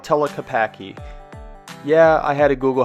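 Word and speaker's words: Tlaquepaque: We're walking into Telquapi. I don't know how to say it. This place is called Telapaki.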